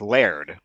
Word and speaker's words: laird: And actually, in Scotland, it's not technically Lord; it's Laird.